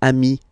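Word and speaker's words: amis: form Ami plural form you add this s but it's Amy as well okay in that case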